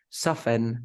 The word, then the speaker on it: soften: check the words fasten soften something like that I never pronounce the T in these words the first one foreign